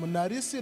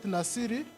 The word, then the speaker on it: Narisi: I'm Narisi, not Nasiri.